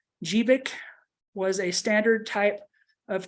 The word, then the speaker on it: GBIC: plugged in a the gbic pronounced jeevik was a standard type